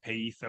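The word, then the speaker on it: πείθω: Peetho because you pronounce the I in the middle of a Greek word in coin a Greek like the the I in intrigue. So it's pito anyway.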